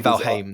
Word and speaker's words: Valheim: just because you know it's not Val um I don't know like I'm I'm getting guess that one of these days a Nordic ver is going to be like actually pronouncing it right for everyone pronounce it wrong but no not that it's actually valim the entire time yeah because I played